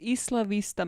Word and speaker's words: Isla Vista: isla vista massacre today i have heard this place being pronounced completely differently and i'm gonna tell you all that you are wrong because if this is a place named in spanish that is how it should be pronounced cool now the two